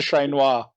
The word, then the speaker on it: Ché Noir: do a shout out you should say her name properly so shout out to shane noir yeah yeah anyway yeah